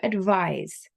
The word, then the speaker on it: advise: v i s e do not confuse it with the noun which is 'advice' a d v i c e so there's a difference in pronunciation and there's a difference in spelling so 'to advise' means